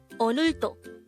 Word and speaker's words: 오늘도: 오늘도. 오늘도. This is pronounced as a three-syllable word. The first syllable is o, the second syllable is n, the third syllable is do.